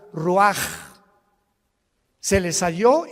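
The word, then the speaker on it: רוּחַ: Roach así como suena se pronuncia la c en hebreo como J ruaj se le só y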